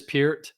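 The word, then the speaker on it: Peart: And by the way, everyone out there, it is Pier Pier. I said per for years, but it's not.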